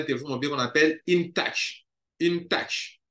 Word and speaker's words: InTouch: Il y a une grande structure qui traite avec les compagnies de téléphone mobile qu'on appelle InTouch. InTouch. InTouch, bon, en anglais, on dirait InTouch.